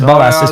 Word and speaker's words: Bolas: no no it is Bolas the first time okay I was just shocked to find out it's just like the word balls in in Portuguese which